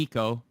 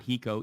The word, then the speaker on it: Hiko: jacob's interview from the eco not he co eco rhymes with AZ k braixen skadoodle who are